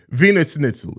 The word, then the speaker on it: Wiener Schnitzel: say anything man it's Venus schnitzel it's how you say it it's it's spelled with a W in Germany they pronounce their W's as v's and V's as W's